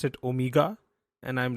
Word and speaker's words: Omega: I used to call those watches Omega until I heard Daniel Craig pronounce it Omega, and I'm like, yeah, I'm gonna pronounce it Omega from now on.